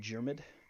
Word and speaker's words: Diarmid: The next person after Temple is a man simply called Jermid, which is spelled Diarmid.